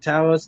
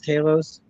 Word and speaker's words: Talos: just as mad about Talos. If I'm saying it right, is it Talos? Talos? It's actually pronounced both. I know Sonia says Talos, Fury says Talos. Talos. Everyone's got an accent, Yeah.